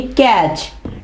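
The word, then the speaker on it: catch: कैच नहीं कहेंगे हम कहेंगे कैच। T क्या है, साइलेंट।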